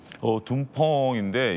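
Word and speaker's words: 东风: 둥펑인데 이제 한자로 쓰면 동풍입니다. 이제 중국 발음은 이제 둥펑 미사일인데요.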